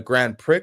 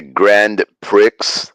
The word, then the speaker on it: Grand Prix: not you said, the Grand Prix? yeah, that's what it's rumored to be called. The X is silent on that one. Yeah, bro, the X is silent, bro. Imagine a Grand Prix.